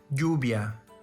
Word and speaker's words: lluvia: ny sound example manana the double l letter is pronounced as y example jubia same as in english